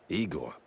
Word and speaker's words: Eigor: Eigor, not Igor. Igor? No, Eigor.